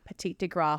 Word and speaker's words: Petit de Grat: It's spelled like g r a t. Petit de Grat Grat. Grat. That's what I thought. That was what my gut said.